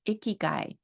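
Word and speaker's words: ikigai: I love this process I think it's pronounced iy guy it's a Japanese term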